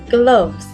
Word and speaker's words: gloves: together this word says gloves and it's spelled g l o v e s gloves can you hear where the letter O makes the uh sound gloves Say it With